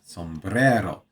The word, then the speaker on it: sombrero: Got to don't forget to roll your Rs. Sombrero.